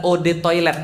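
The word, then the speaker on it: eau de toilette: bayar sombong banget si toil artinya adalah OD toilet bacanya E atau OD itu artinya air toilet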